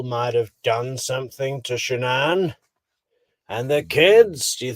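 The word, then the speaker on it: Shanann: And I don't want to pronounce her name wrong, Shannan? Shannan, okay.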